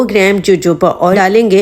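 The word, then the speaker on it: jojoba: वैसे इसकी सही प्रोनाउंसिएशन है जोजोबा ऑयल। हम यहाँ पर कभी कभी जोजोबा ऑयल भी कह देते हैं, लेकिन इसकी सही प्रोनाउंसिएशन होती है जोजोबा ऑयल।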